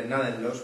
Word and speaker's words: Gnadenlos: Hablando de Gnadenlos, porque se pronuncia así, porque yo ya me he encargado de hablar con Ralph y sé que es un término alemán que se pronuncia como si fuera una palabra de brújula en castellano.